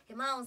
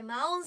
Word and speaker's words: 真音: が来てくれます黒崎真音さんですまおんさん神の音と書いてまおんさんです絶対に聞いてねー